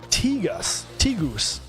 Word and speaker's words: Tegus: pronounce his name, and it's T, not Ty. And I said Tygus in the video.